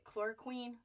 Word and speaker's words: chloroquine: When there are doctors talking about, chloroquine is the pronunciation of that, intravenous vitamin C.